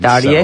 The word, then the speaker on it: Terje: It could be Todd Terje or Tarj. No, I think the J is actually silent. Terje?